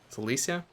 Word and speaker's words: Silesia: Silesia? Yeah, that's how you pronounce it.